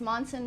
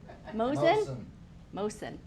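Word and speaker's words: Moson: This here is Monson Road. Mosen. I always say it wrong. Mosen. Thank you.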